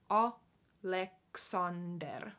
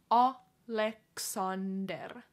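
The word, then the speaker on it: Aleksander: last name so yeah Aleksandar same is like Alexander Oh Lex under but like more finish pronunciation Oh Lex under Alexander barkal bar God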